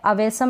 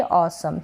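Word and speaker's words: awesome: है ये क्या है अवेसम ना पढ़े इसको पढ़ेंगे ऑसम क्या पढ़ेंगे ऑसम और ये है इसको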